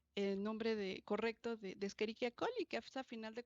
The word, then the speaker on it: Escherichia: ni éstas es mayúscula se escribe eric ya y se pronuncia escherichia otra forma de escribir